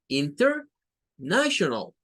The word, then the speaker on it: international: que dicen inner, inner, inter, inner, er, inner, international, international, international, international.